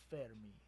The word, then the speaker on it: Fermi: of the Fermi paradox I think it's actually pronounced like fair to me things French or something I'm not gonna say